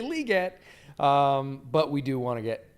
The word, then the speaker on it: Legette: it's hard though because we've been saying Legette for four straight months and now we need to say liette um but we do